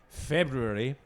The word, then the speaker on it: February: Um, uh, this month, February, with both the Rs pronounced, um, having a dry February.